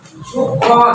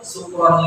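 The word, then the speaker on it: شكرا: Jadi bahaya, ya bahaya kalau misalkan ada kata syukron, misalkan syukron lillah, kita bacanya pakai sin kecil, syukron lillah, tapi kita mabuk kepada Allah, bukan berterima kasih kepada Allah.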